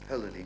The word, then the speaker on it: Hölderlin: Is that the way you pronounce him? Hölderlin? Hölderlin, yes. Hölderlin.